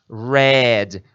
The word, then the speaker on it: read: é a d mais a pronúncia vai de rir para Red a mesma pronúncia da cor vermelho tá bom Então tá